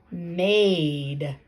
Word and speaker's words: made: so that it says made. I made an apple pie this morning. Made. I don't hear any more sounds. But guess what? That's because this letter is silent. It's that silent, tricky, bossy E.